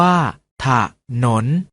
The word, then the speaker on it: ถนน: ออก เสียง ว่า ทหาร ถนน ออก เสียง ว่า ถ้า ถนน ฉลาม ออก เสียง ว่า